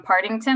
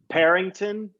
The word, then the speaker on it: Partington: first time thank you what do you usually get parrington is the number one uh go to parrington which is not correct there's a t in there parting yeah so it's